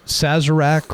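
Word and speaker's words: Sazerac: to blossom was when I believe it was Sazzarak or I I forgot how to pronounce it. Yeah, Sazzarak.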